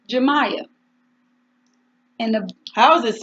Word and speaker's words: Jamya: how you pronounce your name and she said jamya and the house is spelled J a my a J a and why some people cannot pronounce